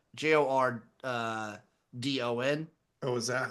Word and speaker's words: Jordon: and the woman who wrecked Bill Belichick, Jordan Hudson, Oh, she's the best. Jordan, baby. Is that how it's pronounced? I just see it. It's Jord, like Jordon.